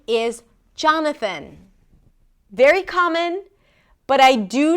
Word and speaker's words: Jonathan: Not an a sound, but just a really reduced sound. John and then thn. No vowel in the middle. Right. It's kind of like you want to bring the tongue out for the th and then pull it in really quickly for the n.